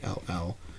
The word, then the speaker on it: Hall: The rest of the crows are voiced by the Hal or Hall Johnson Choir. Not sure exactly how you pronounce his first name. It's Hall.